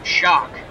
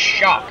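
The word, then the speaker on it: Schalk: in to catch raise shock I believe you that's how you pronounce in SCH ALK he's the new catcher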